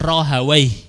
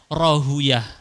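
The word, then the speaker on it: Rahawayh: salah satunya Ishak Bin rohai orang ahli bahasa bacanya gitu orang ahli hadis bacanya rohuyah ada dua versi Ishak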